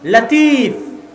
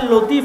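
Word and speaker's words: لطيف: নামে নাম আছে মানে লতিফ আল্লাহর নাম কিন্তু সঠিক উচ্চারণ হচ্ছে লাতিফ সঠিক উচ্চারণ কি লাতিফ লতিফ এটা সঠিক উচ্চারণ নয় লাতিফ হচ্ছে সঠিক উচ্চারণ তো এই লাতিফ শব্দের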